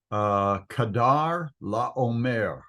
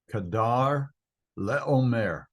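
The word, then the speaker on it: Chedorlaomer: This guy has a name that's kind of hard to pronounce. It is Kedar Laomer. Kedar Laomer.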